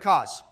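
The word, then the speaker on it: Kos: those were tough bosses it's pronounced orphan of cause or some say CM I really need that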